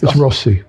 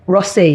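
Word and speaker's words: Rothesay: So, wherever they go, I probably mispronounced that now, Richard. Uh any It's Rossy. Rossy. Yeah. Oh, that's what they say out there.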